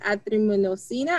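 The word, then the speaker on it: azithromycin: She was prescribed, I believe the word is azitromycina.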